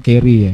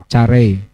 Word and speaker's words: Carey: Bacanya Carey ya, Carey.